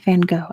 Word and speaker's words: Van Gogh: It is Vincent Van Gogh, as we say in America. For whatever reason, that's how we pronounce his name.